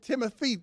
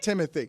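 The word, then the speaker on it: Timothée: fame and demanding that Timothy shalam whatever his name is I can't pronounce his first name it's the first name I have trouble with because it's not Timothy Timothy it's not it's timot get over yourself well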